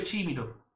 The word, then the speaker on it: tímido: O mio figlio è timido. Ricordatevi la pronuncia della T diventa una C.